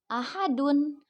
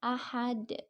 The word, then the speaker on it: ahad: Nah, asalnya itu dibacanya ahadun. Karena diwakafkan jadi dibacanya ahad.